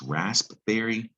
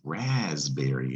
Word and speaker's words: raspberry: know that about er and that's gonna be pronounced rasp this raspberry you know what that's raspberry yeah the fruit raspberry so what's the deal